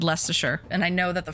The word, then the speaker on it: Leicestershire: I said Lincolnshire, and then I said Leicestershire, and I know that the first one I mispronounced. Lincolnshire, right? Or do you do a harder I on that one? Lincolnshire, right? And Leicestershire. Sheer.